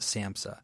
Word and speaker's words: SAMHSA: Yeah, we pronounce it SAMHSA.